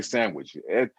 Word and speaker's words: sandwich: else says no d is we all say sandwich s-a-n-w-i-c-h a sandwich as a cow ridic pronounces every every syllable i'm i'm going to